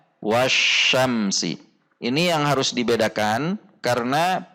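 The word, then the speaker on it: وَالشَّمْسِ: Kesalahan yang biasa terjadi adalah wasamsi. Wasamsi. Seharusnya wasyamsi.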